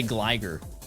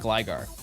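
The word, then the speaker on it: Gligar: I'm going to say Gliger. It's not Gliggar.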